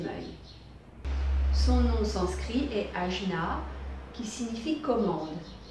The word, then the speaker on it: Ajna: Son nom sanskrit est Ajna, qui signifie commande. Ajna s'écrit A-J-N-A.